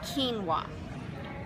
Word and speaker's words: quinoa: just to teach you how to say it quinoa q-u-i-n-o-a it's a seed that looks uh little